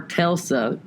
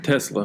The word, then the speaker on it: Tesla: I went back to the past and before telsa is that how you say it Tilson Tesla Tesla and I've been a Tesla before that